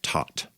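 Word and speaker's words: thaat: scale is called a taut it looks like the word that but they pronounce it taut vara means pitch so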